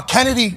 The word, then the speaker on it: Chennedy: one coming from uh Kennedy Sky although it's spelled chennedy uh uh boom okay